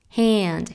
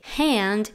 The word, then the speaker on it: hand: My Hold My hand hand este sonido de hand es es un sonido a abierto y que se pronuncia más o menos ea ea pero compacto entonces suena como hand hand igual que Dance Dance solamente que como